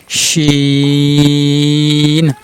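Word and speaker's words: ش: আবার শিনের উপরে 3 নক্তা, শিন। জিহ্বার মধ্যখান তার উপরে তালুর সাথে লাগিয়ে উচ্চারণ করেন, শিন শিন শিন।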